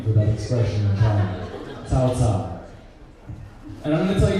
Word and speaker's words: Cao Cao: I'm Cao Cao, Chinese pronunciation Cao Cao.